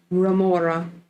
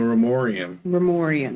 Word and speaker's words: Remorian: Remora. No, Remorian. Remorian. Because it rhymes with DeLorean.